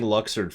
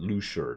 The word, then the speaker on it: Luxord: Yeah, I've been saying Luxord for years, but they never said it out loud until Kingdom Hearts 3, and then they suddenly pronounce it Lushard, and I'm like, whoa! Okay, it's Lushard, apparently.